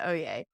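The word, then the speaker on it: oyez: anyone who doesn't know is o-y-e-z is how it's spelled for now it's oh yeah and it's the when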